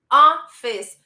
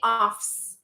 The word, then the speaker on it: office: one too and guys remember office two syllables I hear many Brazilians saying offs offs office right and then we link